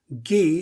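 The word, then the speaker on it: !gi: that this is ghee gee is spelled exclamation point gi and of course the exclamation point in the san language is a kind of clicking sound that i cannot imitate but when you have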